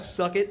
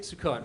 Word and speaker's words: Sukkot: What's that holiday you have? Suck it? Sukkot. Russell, try not to pronounce our holidays.